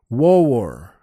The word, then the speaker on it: war: that accent has where one syllable words sound like two syllables that for instance w a r is pronounced Ware and it really suits